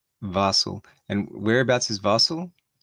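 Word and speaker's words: Basel: in basil it's uh i'm probably not saying that right at all it's b-a-s-e-l barcelo basil barcel yeah it is also where how do you say it you said it right the last time vassel and whereabouts is vassal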